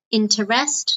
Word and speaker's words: interest: extra is called interest notice it's two syllables interest no interest okay and